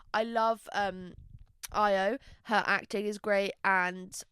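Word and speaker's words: Ayo: I always go to say AO but it wouldn't be AO would it. I love um IO.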